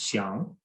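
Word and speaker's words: 想: For example, he explained to me the Chinese character, which in Mandarin is pronounced xiang, which can have a number of meanings.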